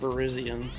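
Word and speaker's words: Virizion: Actually, it's pronounced Verizion, but I always, when I look at this Pokemon's name, I'm like, oh, that's Verizon.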